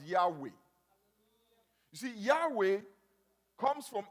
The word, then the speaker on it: Yahweh: The Hebrews pronounce it as Yahweh.